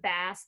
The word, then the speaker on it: bass: You notice, bass is spelled B-A-S-S. It is not bass the fish.